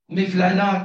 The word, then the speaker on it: Mevlana: il est vrai que Mevlana comme c'est s prononcé en turc et peut-être en PER je n'en sais rien mais en Arab on dit maoulana donc Mevlana il a il a